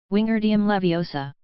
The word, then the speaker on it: Wingardium Leviosa: her my Ani snap its Wingardium Levi OS a make the GAR nice and long you do it then